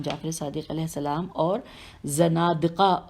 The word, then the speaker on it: زنادقہ: صادق علیہ السلام اور زنادقہ و ملحدین کا سامنا۔ میں ہجے کرتی ہوں، زین نون الف دال قاف ہے، زنادقہ و ملحدین میم